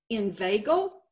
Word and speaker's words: inveigle: Inveigle also follows the rule because that EI makes a long A sound.